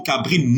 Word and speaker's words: cabri: pour dire pour vous dire que le mot cabrine ne s'écrit pas pas ne s'écrit pas avec un